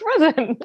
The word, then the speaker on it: Frison: Your name is Frison. It's pronounced Frison."